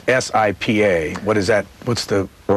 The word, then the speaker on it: Sipa: It's SIPA. What is that? What's the... Well, that's shorthand for a wonderful Turkish journalist. It's pronounced Sipa, and his name is Gökşen, G-O-K-S-I-N, Sipokoglu.